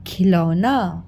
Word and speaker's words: खिलौना: ठीक है, अब उच्चारण पे ध्यान दीजिएगा, यह है खिलौना। अगर मान लो मैंने यहाँ पे खिलौना की जगह मैं लिख देती खी लौना, फिर गलत हो जाता ना बेटा।